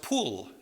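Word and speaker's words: Pul: leisure the third is spelled with only two letters and pronounced pool they called him pool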